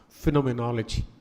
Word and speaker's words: phenomenology: That's how you pronounce it, hermeneutics, phenomenology.